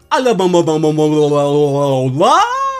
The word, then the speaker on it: Alola: We got an Alola.